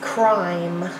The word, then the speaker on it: crime: into something I silent E makes the I say its names I Ike Spike good job the next word is crime crime uh I'm ER